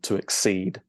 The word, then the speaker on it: exceed: exceed as a verb, and you stress the second syllable to exceed, the ing form being exceeding.